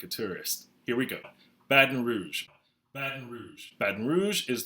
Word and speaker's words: Baton Rouge: Baton Rouge. Baton Rouge. Baton Rouge is the capital of Louisiana. It's actually the fourth. The pronunciation of the city, locals tend to pronounce it Baton Rouge or Baton Rouge.